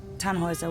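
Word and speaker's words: Tannhäuser: We'd pronounce it Tannhauser with an umlaut.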